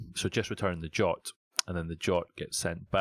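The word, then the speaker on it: JWT: Because based on the jot, that's how I pronounce it anyway, I JSON Web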